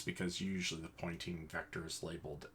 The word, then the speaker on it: Poynting: There is the direction in which the electromagnetic wave propagates is something called the pointing vector. I kid you not, it's the guy's name. It's spelled Poynting.